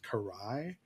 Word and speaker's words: Karai: on Instagram you my handle there is fos carai um so my last name is spelled k a r AI um and on